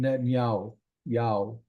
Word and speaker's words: Netanyahu: Netanyahu written there and you may hear on the news or on YouTube news from Israel sometimes they'll pronounce Benjamin netanyahu's name as B Benjamin netan Yao and it really just